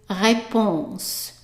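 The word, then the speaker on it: réponse: answer so answer is reponse reponse so that's like response repon but there is no s here and there is an accent on the E repon so let's read the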